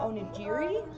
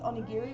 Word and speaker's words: onigiri: I was calling them onigiri because Spanish and English rules, but I guess it's onigiri with a hard G.